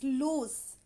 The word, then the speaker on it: loose: means the pronunciation is loose in the end there is s sound whereas in the lose